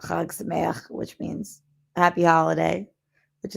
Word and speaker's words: Chag Sameach: Chag Sameach, which is spelled like Chag Sameach, but Chag Sameach, which means happy holiday, which is a nice thing to say to Jews during the holidays.